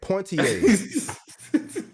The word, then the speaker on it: Poitier: There's no N in that man's name. I will say how I want to say it. Poitiers.